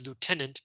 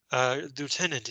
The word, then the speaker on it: lieutenant: Fortune came, but his prize money as lieutenant being great. Lieutenant is Sao Wei. In British English, this is pronounced lieutenant. American English, we say lieutenant. They say lieutenant.